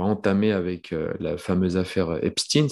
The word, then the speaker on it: Epstein: avec la fameuse affaire obstine ça se prononce comme ça d'autres disaient stein donc voilà on l'a prononce obstine c'est toute une histoire de